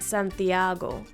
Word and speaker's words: Santiago: The second to last vowel in Santiago is the A, so that's where the most emphasis is going to be. That's why I pronounce it Santiago. That's where my emphasis falls.